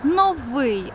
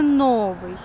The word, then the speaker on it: новий: нову хвилинку української мови слово новий має наголос на другий склад новий але ж ніяк не новий з усіх сил стараюсь